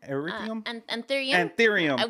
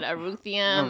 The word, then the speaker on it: anthurium: I've bought yeah, like a whole nother set of stuff, which actually that one erythium anthurium. We both said it wrong today. I said eruthium and Aretha Franklin.